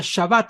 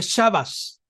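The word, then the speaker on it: שַׁבָּת: la s por ejemplo la palabra más conocida que lleva tabla la palabra shabat verdad Unas que nacita no la pronuncia shabat sino que dice chavas chavas verdad pero esos son ya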